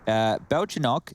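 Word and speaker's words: Бельчонок: So, Belchinok, that's little squirrel in Russian. We're learning so much here. That's adorable. With the stress on the first O, not the second O.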